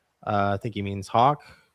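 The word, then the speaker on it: Haugh: Uh I think he means Hawk. Hauk. Either way, maybe I can't pronounce it. H A U G H. I only know how to spell it. Yeah. But, yeah, it does definitely sound like K.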